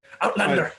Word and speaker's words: Outlander: This is Outlander. You have to say it like that. No. You have to say it like a Highlander.